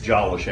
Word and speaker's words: Jolish: It's Jolish, actually, instead of Jolish. Oh, thank you. Everybody wants to put a short O on it, or a long O on it, and it's a short O.